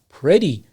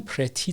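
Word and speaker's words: pretty: بشه همچنین از کلمه پردی میتونیم که استفاده کنیم اینم پرتی تلفظ نکنید پردی یعنی صدای د بده این تی که در اینجا هست پردی هم به معنای زیبا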